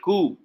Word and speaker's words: coup: It became a republic on 1st October 1963, and Nigeria is very infamous for military coup.